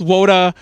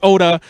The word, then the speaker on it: wota: might point it out, yes, Wota, or some people pronounce it Oda, is a shortening of otaku, but it's the accepted term for like an idol fan.